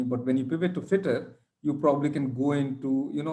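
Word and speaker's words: Fittr: So whether you say fitter with an E, one sec, whether you say fitter with an E or fitter without an E, both sound the same.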